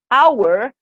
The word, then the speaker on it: hour: with the word our hour the h is silent so it doesn't sound we hear the sound